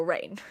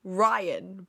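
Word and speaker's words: Rian: His name is actually spelled R-I-A-N, right? For some reason, in my brain, that decided to have just been called Rain, when it's actually Ryan, but quirky, just with an I instead of a Y.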